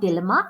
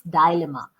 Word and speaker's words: dilemma: The correct pronunciation is not dilemma. It's dilemma. I was in a With dialogue.